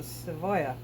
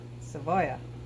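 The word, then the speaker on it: cebolla: uh tortilla is tortilla anything with a double L is y y is not pronounced like seoa it's uh a little bit of v in there so sooya seya right okay so oh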